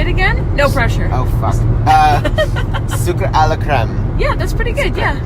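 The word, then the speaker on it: Sucre à la crème: years I'm always afraid I'm gonna say your name wrong because it's French and say it again no pressure Oh Zuka a la creme yeah that's pretty good again so good this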